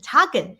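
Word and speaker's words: teken: it's old english but the dutch and german meaning of token literally means teach and it pronounces taken so token was actually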